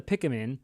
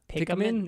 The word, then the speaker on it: Pikmin: Why do you say it like that? What? Pikmin? Yeah, whatever. Pikmin? Yeah, I know. I sound like No, there's no A in that word.